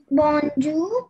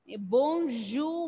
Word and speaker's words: bonjour: So how will you pronounce it? Bonjour, madame. Bonjour, madame.